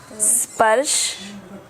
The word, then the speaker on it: स्पर्श: पस पर्स बोलो, पर्स। पस पर्स मालूम है पर्स क्या है? तुम्हारे पास पर्स लेकर घूमती हो, पर्स लेकर घूमती हो ना, तो पर्स के आगे एस लगा दो तो क्या हो जाता है? स्पर्श। स्पर्श। तो उसको पर्स बोलते हो ना, तो इसको स्पर्श बोलना है।